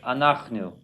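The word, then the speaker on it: אנחנו: And then the last one is not accented on the last syllable, second to last syllable, anachnu. Oh, make sure to get the chet sound in there.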